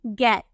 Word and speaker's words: get: नजर आ रहा है, लेकिन फिर भी हम इसे क्या प्रोनाउंस करते हैं, गेट हम प्रोनाउंस करते हैं।